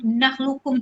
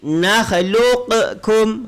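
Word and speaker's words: نخلقكم: Kalau yang salah tu bacanya macam ni. Nakhluqukum. Tu salah.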